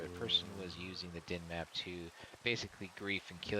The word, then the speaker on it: Dynmap: I don't remember what Sid said how you pronounce it. It's din map, DYNMAP.